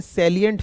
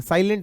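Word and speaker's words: salient: ये देखिए बेटा, एज मे be specify by SEBI, और इसमें क्या होते हैं, सैलिएंट फीचर होते हैं, साइलेंट नहीं सैलिएंट फीचर्स होते हैं।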